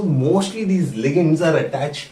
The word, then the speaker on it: ligands: Okay, लिगेंड्स, LIGANDS. नहीं, जो सोच रहा हो बिल्कुल मत प्रोनाउंस करना.